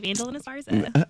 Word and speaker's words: Vandolyn Esparza: Vandolyn Esparza.